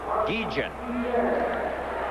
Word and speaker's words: Guillen: Now, this youngster wants his name pronounced Guillen. Ozzie Guillen. It's spelled G-U-I-L-L-E-N, but for some reason he wants it pronounced Guillen.